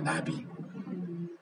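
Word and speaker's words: נביא: 선지자가 나비거든요. 나비. 이렇게 날아다니는 나비하고 발음이 똑같아요.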